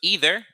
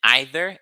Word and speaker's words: either: Okay, so either is the American pronunciation, and either is the British pronunciation.